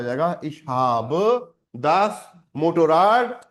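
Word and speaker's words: Motorrad: Spin, मोटो farad नहीं है, मोटोराड।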